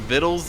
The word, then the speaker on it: victuals: But rather than getting Viddles at level 7 (dictionary pronounciation of Victuals) we’re taking Insatiable blade for more healing and a little mobility.